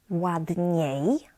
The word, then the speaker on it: ładniej: And the last one, ładniej, ładniej, is the same but with y sound at the end.